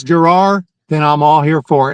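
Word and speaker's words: Jerar: I always wondered like that's not a Spanish pronunciation. I I I thought it was Herar when we first got him from the Marlins or wherever he was.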